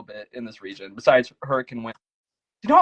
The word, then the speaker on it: Hurricane: Like, are you also unaware of the fact that there's also Hurricane Utah, which pronounces it the same way?